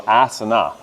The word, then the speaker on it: asana: If you have a long A, then it's traditional asana.